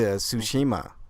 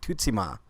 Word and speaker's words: Tsushima: To Tsushima, right? But it's actually pronounced differently, and the developer had a different pronunciation that I never heard before. It's like Tutsima, which is weird to hear, but you know